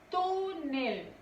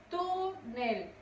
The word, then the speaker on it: túnel: Túnel. Túnel. Su sílaba tónica es tu.